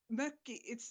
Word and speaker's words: mökki: Yeah, the mökki. It's spelled M and then O with dots, double K and I.